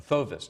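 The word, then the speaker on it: fauvism: A fauvist, actually. Fauvist. I was trying to decide whether it was a fauvist or a fauvist. I like fauvist. Fauvist is the correct Yeah. pronunciation.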